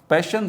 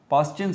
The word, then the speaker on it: Paschen: अच्छा, इसके अलावा हमारे पास पैशन सीरीज़, जिसको हम पास्चिन सीरीज़ भी कहते हैं, ये तीसरे नंबर पर है। कुछ लोग इसको पास्चिन सीरीज़ कहते हैं, पास्चिन सीरीज़। एक्चुअल इसकी प्रोनाउंसिएशन क्या है? पैशन series.